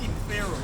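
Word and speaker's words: συμφέρω: Well, it looks like Simphero, but they say it's pronounced Simphero, right? Simphero. It's kind of like symphony, right?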